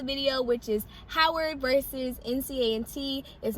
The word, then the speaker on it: NCAT: topic of the video which is howard versus nca and t is not in cat please do not pronounce it that way but yes okay so